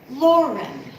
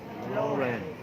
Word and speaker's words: Lauren: Listen to my name. Lauren. Lauren. Lauren. Lauren. Okay? So there's stress in that word in the first syllable.